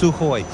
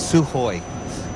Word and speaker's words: Sukhoi: It's Sukhoi. Even though there's a K in there, apparently you don't pronounce the K. It's Sukhoi.